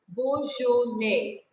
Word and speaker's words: Beaujolais: Beaujolais. S is silent in the end because there is no E after it.